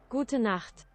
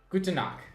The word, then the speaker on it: Gute Nacht: Gute Nacht. Gute Nacht.